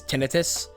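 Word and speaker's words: tinnitus: uh Tinus tenius people people say that like the proper way to say it is tenus but I say tenius because that just makes more sense to me I got that pretty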